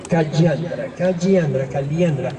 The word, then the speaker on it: Calliandra: Calliandra. Se pronuncia Calliandra, pero se escribe con doble L, Calliandra medellinensis.